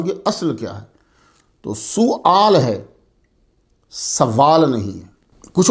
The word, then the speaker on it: سؤال: تو طلبہ خیال رہے اس کا تلفظ جو ہے وہ سؤال ہے، سوال نہیں ہے، لیکن میں بھی بولتا